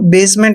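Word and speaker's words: base: अलग से रूम बना दिया जाए उसको हम बेसमेंट बोलते हैं और हिंदी में तह खाना बोलते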